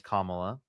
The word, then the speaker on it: Kamala: Um well, her name is Kamla.